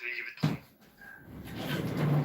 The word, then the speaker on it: Louis Vuitton: It's pronounced Louis Vuitton.